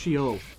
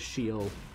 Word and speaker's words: Sheol: Apparently it's pronounced Sheol. I always thought it was just Sheol, but apparently it is Sheol.